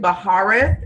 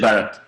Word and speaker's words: Barrett: a little bit later, this is Baharith. Am I pronouncing that right? Barrett. Barrett, okay.